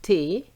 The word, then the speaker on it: thé: And it's the same if we have a cup of tea, which is thé, we don't pronounce the H.